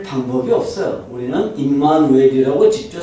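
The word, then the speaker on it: Immanuel: 지금도 중국 사람들은 임마누엘이라고 발음하지 못해요. 뭐라고 발음하죠? 이마네리라고 발음해요.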